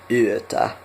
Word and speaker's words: yö: And then at night time we say hyvää yötä. Yötä. Hyvää yötä. It's a diphthong. Yö.